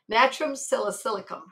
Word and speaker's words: Natrum salicylicum: Now there's another medicine called natrum silicicum. Natrum silicum. Natrum silicicum. That is spelled natrum, N-A-T-R-U-M, and S-A-L, sal, is silicum.